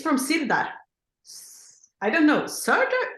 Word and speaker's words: Sirdar: It's from Sirdar. I don't know, Sirdar? How do you say it in English? Sirdar. Sirdar, because it sounds almost Swedish, Sirdar.